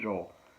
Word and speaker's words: Joel: people who uh mispronouncing they call him billy joelle billy who does that auntie but i've heard other people say billy joel really yes ma'am that